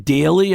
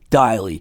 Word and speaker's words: Deily: like meant to talk to him about the pronunciation of his name because i hear everyone call ben ben daley i've been hearing that for years but it actually is ben daily so i'm glad we got that right for